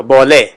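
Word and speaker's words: بله: میں دینا ہے، تو بالے. فارسی میں بلے جو ہے نا بیسیکلی یہ ہم اس کا تلفظ کریں گے تو بالے، بولے. اس طرح اس کا تلفظ ہوگا بولے.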